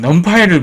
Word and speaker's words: NumPy: 오늘은 넘파이를 배웁니다. 넘파이 처음 들어보나요? 넘파이는 이렇게 했습니다. 넘파이 Numerical Python이라는 뜻입니다. 우리가 3번에 걸쳐서 강의를 제가 진행을 하는데요. 오늘 첫 번째 시간이고요. 여기 넘파이라고 나오죠. 넘파이라고 읽습니다.